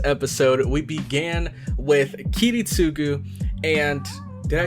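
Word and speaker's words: Kiritsugu: in the last episode we began with a kitty sugu and did I say it right kitty -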